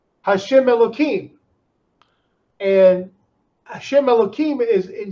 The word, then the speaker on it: Elohim: Now, I pronounce it Elohim. It's spelled, instead of a K sound, it's actually spelled with an H in there.